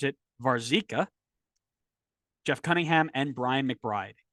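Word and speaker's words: Warzycha: Brian White Robert as I've now learned to pronounce it varzica Jeff Cunningham and Brian McBride and they found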